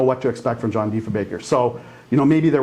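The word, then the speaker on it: Diefenbaker: Kennedy used to say call him de Bacher de Bacher right and say his name sounds like he's German they they did they really didn't know what to expect from John defa Baker so you know maybe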